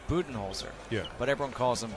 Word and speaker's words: Budenholzer: His last name is pronounced Budenholzer.